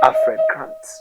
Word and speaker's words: Afreekan: We are called the Afreekan History Class, and Afreekan is spelled Afreekan, as if to say free.